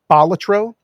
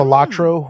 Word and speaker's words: Balatro: playing Balatro or Hmm. Balatro, whatever way you pronounce it.